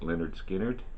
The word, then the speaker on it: Lynyrd Skynyrd: a lineup another debut from 1973 Lynyrd Skynyrd pronounced Lynyrd Skynyrd these guys hit the road running I ain't